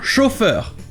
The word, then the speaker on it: chauffeur: mais pour le coup vous aurez un mot courant en anglais avec cette même terminaison qui sera prononcé exactement à la française c'est un chauffeur e chauffeur mais ici